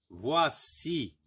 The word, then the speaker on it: voici: Donc, même s'il y a la lettre I ici, ça se prononce wa.